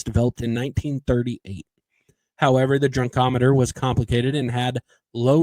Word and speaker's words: drunkometer: Yeah, that's how it's pronounced. Yes, drunkometer, which would be the first practical instrument of breath alcohol analysis developed in 1938. However, the drunkometer was complicated and had low reliability.